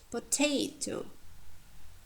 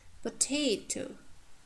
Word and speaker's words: potato: Potato, disaster, synopsis. You see, potato, potato. So second syllable from the end is stressed. It has diphthong or long vowels.